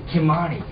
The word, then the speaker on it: Ky-Mani: Ky-Mani.